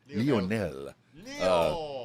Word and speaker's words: Lionel: See, I say it right. Lionel.